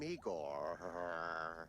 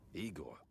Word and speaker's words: Igor: I'm Igor. Igor, not Igor. That's not even right, man. What the Bro. No, Igor. Why so many R's?